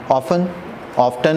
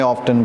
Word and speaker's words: often: Often is correct के wrong? उन्होंने often बोला. गोरास आंधी उन्होंने नहीं English? We have both the pronunciations, often and often. Both are fine, okay?